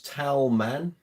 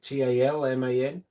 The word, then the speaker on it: Talman: This is an Ibanez Thomann. I think that's how you pronounce it. Talman.